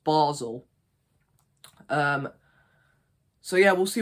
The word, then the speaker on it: Basel: season for bars of basel basil well basil leaves so yeah i'm pretty sure it's pronounced basel um so yeah we'll